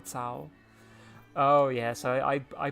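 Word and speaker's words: Cao: Uh, I will say it's throwing me to hear you keep talking about soul cuz while I know that's the Japanese pronunciation, the Chinese is more like sa sao.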